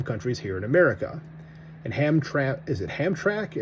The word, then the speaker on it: Hamtramck: And Hamtramck? And I don't pronounce the second letter, or Hamtramck, because that's a weird way to move your mouth to say that.